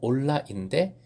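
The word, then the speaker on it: עֹלָה: 원어로 올라인데 발음이 올라, 재밌지요?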